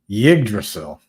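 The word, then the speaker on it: Yggdrasil: not doing too bad Moses says it's pronounced yig drasil okay yrail CB daily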